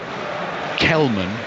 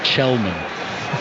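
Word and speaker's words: Källman: There's going to be another little pronunciation lesson coming as well, because number 19, Benjamin Kelman, is actually pronounced Chelman.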